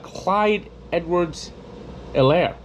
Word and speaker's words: Clyde Edwards-Helaire: Now, Patrick Mahomes, of course, was stellar, but Clyde Edwards-Helaire, the H is silent.